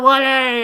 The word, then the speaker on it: Wale: Wale. How do you say it? Wale. I just said it. Wale. You pronounce words incorrectly almost every day of your life.